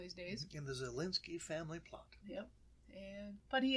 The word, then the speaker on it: Zalinski: We're going to talk about Edmund Louis Gray Zalinski, right? Right. That's how you pronounce his name.